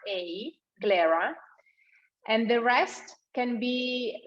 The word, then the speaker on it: Glera: at least 85 percent of glare grade you spell it uh g l e r a glarer and the rest can be some specific uh